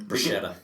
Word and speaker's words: bruschetta: I also thought that's how you said bruschetta because in Italian bruschetta. It's every C is pronounced with like a K sound.